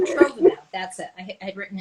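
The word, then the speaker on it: sotrovimab: wrong, maybe you know how to say it, Sirtovimab. It's the one that, Yeah, I think you did better than me at pronouncing it. Sirtovimab.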